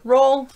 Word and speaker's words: roll: Then we have the regular roll and pull. Always long O with an L, unless it's doll.